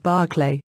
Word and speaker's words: Berkeley: Quite in opposition to this was George Berkeley, pronounced Barclay, for whom to be single quote was to be perceived.